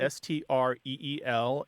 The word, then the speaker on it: streel: And that more closely reflects what I believe the Irish pronunciation be, which is a little more like streel, something like that. So the voice TH in there.